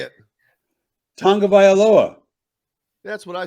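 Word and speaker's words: Tagovailoa: Tua Tagliavola. That sounds like an Italian dish with vodka sauce. Well, how do you say it? Tonga Vailoa.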